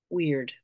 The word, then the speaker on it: wyrd: for the week ahead we have weird this is spelled wyrd in the north the word weird is